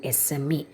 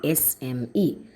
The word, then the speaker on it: SME: അതായത് S, not yes. It's SME. An SME.